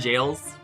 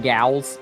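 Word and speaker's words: gaol: Pokemon jails. Pokemon Gals. No, it is it is actually pronounced jail.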